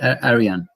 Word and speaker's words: Arijan: Is it Arijan? J is pronounced like Y in Serbia, like Aryan.